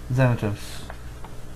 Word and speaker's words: Xanatos: Xanatos. Seriously? Yes. X's are pronounced as Z's when they're first.